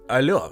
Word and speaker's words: allô: Французи просто не могли нормально сказати hello, замість цього їм удавалось ельо чи альо. З часом закріпився варіант альо з наголосом на останньому складі, м'який, трохи співучий, дуже французький.